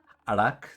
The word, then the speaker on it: Arak: the back so basically arak that's interesting name yeah it's pronounced like the beginning of the word arachnid yen keep going i